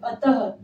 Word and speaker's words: अतः: पहचाना जाएगा कि अतः विसर्ग का हमेशा उच्चारण ह से होता है। ठीक है? हम पूरा शब्द ऐसे पढ़ेंगे। अतः ह जरूर उच्चारित होना चाहिए।